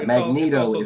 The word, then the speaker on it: Magneto: or whatever so yeah magneto that whole vowel consonant vowel that means the first vowel is long and um i know